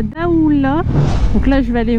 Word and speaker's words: Daoulas: c'est mort les donc là daoula je dis pas daoulas donc là on va